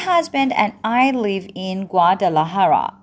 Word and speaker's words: Guadalajara: My husband and I live in Guadalajara. دقت بکنید Guadalajara. تلفظش به این صورته.